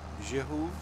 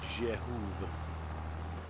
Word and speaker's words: Zdziechow: It is so it's pronounced Zdziechow. Why is it? Why? Why do they have to make it so hard to pronounce? Zdziechow.